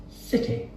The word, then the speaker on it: city: The Queen, or more refined people, would say city. City. That's right. We squash that sound at the end. It's a short I.